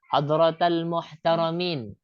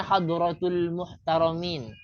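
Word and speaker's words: حضرات المحترمين: ada itu hadratal muhtarin itu ada yang bacanya banya hadratul muhtarin tapi yang betul itu itu kan tulisan arabarnya suaikan dengan bahasa Arab cara bacanya sebenarnya yang betul itu hadrata bukan hadratul muhtaramin para alim para ulama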